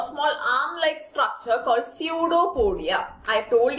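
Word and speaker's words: pseudopodia: feet like structure called सूडो पोडिया सूडो पोडिया note down the spelling students P एस ई य यू डी ओ पी ओ डी आई ए सूडो पडिया पी एस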